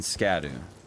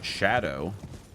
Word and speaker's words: Scadu: of Shadow Jesus Christ I think this sco pronunciation will stick forever oh yeah I'm sure there will always be people that refer to them as sco skibidi and scadu but yes it is it is Shadow which is it's it